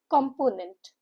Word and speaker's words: component: Component. Component. Three syllable word.